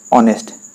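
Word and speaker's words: honest: ও ইউ R hour আর যেহেতু ইয়ার প্রত্যেকটুরে অনেস্ট honourable আমি তো অনারেবল বলে উচ্চারণ করুম বা অনেস্ট যেটা আমি এটা উচ্চারণ করিছু প্রত্যেকে যেহেতু এইবার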